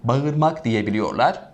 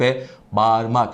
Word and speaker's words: bağırmak: çok fazla şu anda kulağıma gelen hatalı telaffuz lardan bir tanesi bağırmak diyebiliyorlar Efendim Kural aynı a geniş ünlü ğ sildik ıııı dar olduğu için onu da sildi kaldırmak değil yarım elif miktarı aynı uzaklık ve bağırmak şey ve okuyoruz efendime